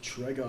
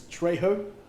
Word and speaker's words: Trago: Julius Trago. I must apologise. I'll take this opportunity to apologise to the Trago family. I've been pronouncing the name all season as Trejo. Clearly incorrect.